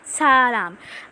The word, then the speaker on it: 사람: you will know it, because a word in Korean actually has the pronunciation of R or L. So it depends on where you're using it. So right here, you're using it in like the other of sa, so it goes salam, like hear it.